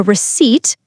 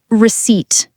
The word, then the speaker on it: receipt: After you pay, they give you a receipt. The P is silent. It sounds like receipt.